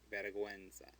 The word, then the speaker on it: vergüenza: But we want that U to be pronounced vergüenza.